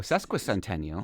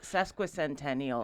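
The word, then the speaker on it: sesquicentennial: Oh sesqua centennial. Yes, sesqua centennial.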